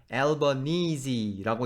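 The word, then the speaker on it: Albanese: 설명해 놓은 웹페이지에 가니까 그 라스트 네임을 앨버니지라고 읽던가 앨범 니즈라고 읽던가 두 개 중에 하나로 하라는 거예요이 녹음에서는 알바니이지라고 하겠습니다 이분 우리가 이탈리아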